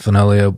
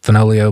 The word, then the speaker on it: Fenoglio: uh on IG it's folio just folio bootco that's f n o g the g is silent like lasagna um there's an account